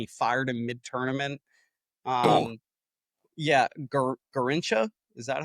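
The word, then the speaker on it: Garrincha: Yeah, Garincha, is that how you pronounce it?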